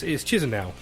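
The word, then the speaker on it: Chișinău: I can't pronounce it. Well, that's pretty good. It's Chisinau.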